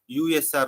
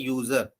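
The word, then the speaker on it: /usr: both are not same usr doesn't mean user it should be pronounced as usr only it is not a user okay so this contains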